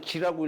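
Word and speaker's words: 識: 그래서 기록한다 할 때는 우리가이 식자를 지라고 읽어요.지 어 지라고 읽어요. 내가 무슨 글을 쓰고서 아무게 여기다 식자 쓰면 요걸 읽을 때 지라고 읽어요.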